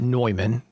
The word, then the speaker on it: Neumann: Some people call it Neumann, Neumann. You pronounce it Neumann.